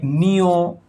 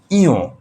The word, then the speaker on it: ঞ: এরপরে আমরা এটাকে নিয়ও বলে থাকি। নিয়ও নয়। এটা হল ইও। যেভাবে আমরা উ বলেছি এভাবে ইও। এটার উচ্চারণ ইও।